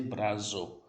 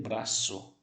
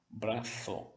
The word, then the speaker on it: brazo: Porque o Z, gente, no espanhol, ele terá a mesma pronúncia do C. Não tem som de Z. Por exemplo, nessa palavra eu não vou dizer brazo. Eu vou dizer braço.